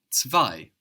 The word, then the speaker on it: zwei: Number two in German is zwei, Zwei. zwei. Zwei is spelled Z, W, E, I. We've already seen how the Z in German is pronounced ts, ts.